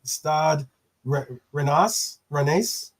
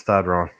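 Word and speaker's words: Stade Rennais: Plays for against Stade Renas. Wrong. That's just Stade Ron. Okay. Yeah, and I know. It doesn't sound. It isn't pronounced like it's written.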